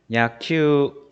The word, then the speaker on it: 野球: 우쿠스츠누 후무유루의 우단음인 유 뒤에 우가 오면은 야큐우라고 읽지 않고 큐를 두 박자로 읽어줘요. 野球、 네, 야큐 야구예요.